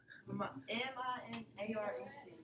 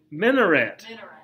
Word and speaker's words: minaret: It rhymes with cigarette. M-I-N-A-R-E-T. Minaret.